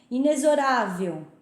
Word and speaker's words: inexorável: Inexorável, você pronuncia com som de Z e não de X, tá?